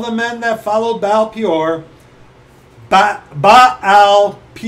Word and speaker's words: Baal-peor: Your eyes have seen what the Lord did because of Baal-peor, for all the men that followed Baal-peor, Baal-peor, two syllables, the Lord thy God hath destroyed them from among you.